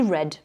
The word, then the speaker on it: read: Vous voyez que là, j'ai pas dit read, j'ai dit read. Donc, on le prononce un peu comme la couleur rouge.